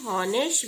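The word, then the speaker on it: honest: 13 number में दिया है ही इज इन हॉनेस्ट मैन। अभी आपको पहले भी बताया है कि एच है जो स्वर है साइलेंट स्वर, इसके आगे भी ए एन लगेगा।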